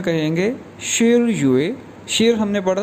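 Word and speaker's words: 十月: और अक्टूबर 10वां महीना है, तो अक्टूबर को चाइनीज़ में कहेंगे शिर युए। शिर हमने पढ़ा था 10 के लिए, तो 10वां महीना ये प्रोनाउंस किया जाएगा शिर युए।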